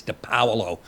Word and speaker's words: Di Paolo: I say Depalo. By the way, that's not how you pronounce my name. It's Depalo. But after everybody's saying Depollo, I have to I just give in.